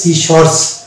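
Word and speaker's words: scissors: Next word হচ্ছে সিশর্স, এখানে এসসি শব্দের শুরুতে আছে এবং তারপরে দেখতে পাচ্ছি আই, অতএব এখানেও সি হয়ে যাবে সাইলেন্ট, ওই জন্য এটা হয়ে যাবে সিশর্স।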